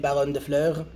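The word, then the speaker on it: Baronne de Fleur: And finally, I played Baron de Fleur. Yes, that is how you pronounce it.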